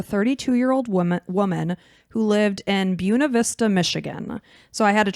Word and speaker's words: Buena Vista: this town because here in Florida, we say Buena Vista. Yeah, like Disney, Lake Buena Vista. Mm-hmm. But it's Buena Vista. It's how they pronounce it, I guess, in Michigan and Colorado.